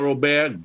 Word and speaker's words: Robert: Brother Robert, how can people get up with you and support your work?